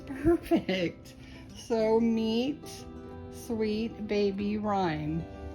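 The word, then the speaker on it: Ryme: are why m e without the H but still pronounced rhyme and so I wanted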